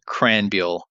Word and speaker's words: Krahenbuhl: Krahenbuhl. And I'm going to have you say that for me one more time. Sure. It's a Christian Krahenbuhl. And to be fair, I've had that name pronounced once correctly my entire life.